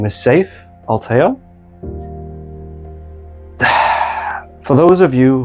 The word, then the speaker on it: Seif: My name is Safe Alteo. For those of you who think they can spell it, it's not what you think.